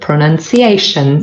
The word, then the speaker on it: pronunciation: The main stress is on A. This is the 4th syllable.